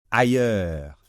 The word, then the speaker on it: ailleurs: comme tout à l'heure le S final ne se prononce pas d'accord et ce fameux ye